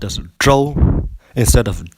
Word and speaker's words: Zhou: So the ZH sound would be a J sound, but with an R in it. So take the Zhou dynasty, for example. It is pronounced as Zhou instead of Zhou.